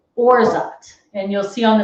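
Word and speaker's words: orgeat: a simple syrup called orzot and you'll see on the screen it's spelled o-r-g-e-a-t but it's pronounced orzot like zsa orza it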